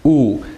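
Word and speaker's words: wu: like the last name woo maybe a program so it's actually pronounced ooh because it's just a U but the W has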